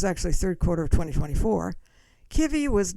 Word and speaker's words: Kivy: Eventually, we settled on Kivy. That's Ki Vy. And I pronounce it with a short eye versus KI.